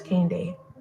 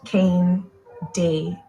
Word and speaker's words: Kane Day: I made the decision to introduce myself as Kane Day. It's pronounced Kane Day. Kane as in candy cane, and day as in night and day.